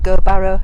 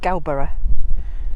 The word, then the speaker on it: Gowbarrow: has corrected me and it's not gurbarrow it's galbara galbara that's a cowberry so now i can pronounce it like a proper cumbrian and not like some